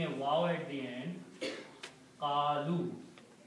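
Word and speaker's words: قالوا: And its plural is by adding a waw at the end, qalu. And this alif is not recited, it's not pronounced.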